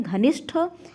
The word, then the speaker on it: घनिष्ठ: अशुद्ध वर्तनी वाले हैं घनिष्ठ शब्द में घनिष्ठ ट ट का प्रोनाउंस एशन नहीं होता है ठ का प्रोनंसिएशन है घनिष्ठ और दधीच में ध्यान